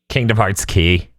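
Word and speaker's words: Kingdom Hearts χ: true i actually it's pronounced the x kingdom heart it's x it's pronounced key kingdom hearts key kind of mark they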